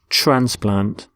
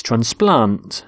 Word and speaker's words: transplant: both nouns and verbs we stress the first syllable in a noun and the second in a verb so the noun is transplant so a heart transplant but with a verb it's transplant so the doctor transplants hearts